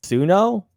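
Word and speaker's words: Suno: you guys heard of I think it's pronounced suo s u n o a IO ai ai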